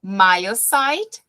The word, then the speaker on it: myocyte: So, myocyte, esses Yzinhos saem como I, myocyte injury and stress activate the sympathetic nervous system and the RAS system.